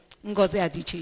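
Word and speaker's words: Adichie: You know, interestingly, one thing I like about writers like Wes Inkimanda Adiche and um Adiche. Yes, that's the pronounce.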